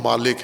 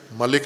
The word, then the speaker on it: مالک: ہے وہ مالک ہے، کہ مالک یوم الدین پڑھیں، ملک نہ پڑھیں، مالک یوم الدین پڑھیں، تو یہ درست تلفظ ہے۔ ملک بھی اگر پڑھ دیا آپ نے تو بھی غلط نہیں پڑھا ہے، آپ نے نماز